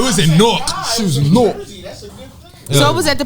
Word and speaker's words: Newark: She was Nork. So it was at the Prudential Center? Yeah. I guess that's you gotta lit. say Nork like that at the end of the day.